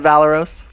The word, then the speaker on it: Valeros: The Paizo people call it Valeros?